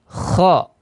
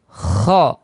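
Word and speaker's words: خ: Kemudian huruf kha. Kha. Tenggorokan atas ya. Pastikan ada ngorok ya. Kalau mungkin kaum muslimin atau kita saudara-saudara sekalian ketika mendengarkan orang ngorok ya. Ya, kurang lebih seperti itu ya.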